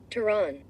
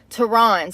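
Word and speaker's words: Tehran: hell no I want you to say it teron Tron that's how you say it teron so it says Teran isn't bluffing and it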